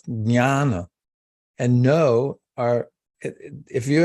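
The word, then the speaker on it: ज्ञान: It's spelled, it looks like an N, but it's actually pronounced with a squiggle over it, nya, nya. So it's jnana.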